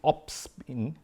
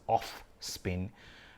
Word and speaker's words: opsin: pigment the protein is opsin yes I was watching cricket and I would probably mispronounce it as off spin uh like the spin balling but it opsin yeah opsin uh that's the